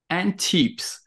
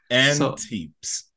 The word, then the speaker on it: antepes: it after you because I may have been pronouncing it wrong so what's the name of the brand and tips and tips that's right and it stands for forefoot in